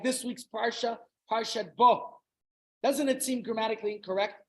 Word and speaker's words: Bo: Like this week's parsha, Parshat Bo. Doesn't it seem grammatically incorrect? Bo doesn't mean go, even though it rhymes bo, go.